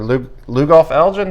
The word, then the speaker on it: Lugoff: Summerville had a 14-10 win over Lugoff Elgin. Am I pronouncing that right, correct. Rob? That is correct.